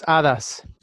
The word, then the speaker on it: hadas: And in Spanish, it's hadas. Hadas. Hadas. How do you spell that?